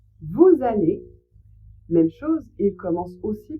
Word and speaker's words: vous allez: Vous allez vous allez même chose il commence aussi par un a, une voyelle. Donc là aussi, vous devez faire la liaison et prononcer le S comme un Z.